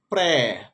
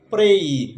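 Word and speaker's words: pray: এটাকে আমরা বলি প্রে, প্রে না, এটাকে উচ্চারণ করতে হবে প্রেই, যেহেতু এই ওয়াই আছে।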